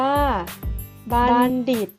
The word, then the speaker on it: บัณฑิต: นะ คะ คือ 1 ออก เสียง เหมือน มี เด็ก เช่น คำ ว่า บัณฑิต มี มณฑป บัณเฑาะว์ และ